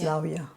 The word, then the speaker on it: Rawia: Because W in Dutch is V. So sometimes when they see my name Rawia, they think Rawia. it's a V, but it's not. It's more like the English pronunciation of the W.